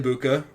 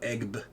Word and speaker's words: Egbuka: Emeka Egbuka, still feel good enough to play him. Sorry for keep pronouncing the G. I just C-E-G-B and I go Egb.